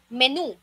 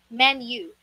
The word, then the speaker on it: menu: Para siyang may isiningit ka na letter Y, ang correct pronunciation dito ay menu. Menu. Parang may silent Y dyan. Long U. Long sound of letter U.